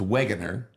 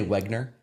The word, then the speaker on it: Wegener: Well, it's there's an there's an extra e. It's Waggner.